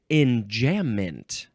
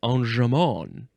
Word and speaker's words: enjambment: You can also pronounce this. This seems like more the proper way to say it. Enjambment? Enjambment. Enjambment. Yes, because it's probably French.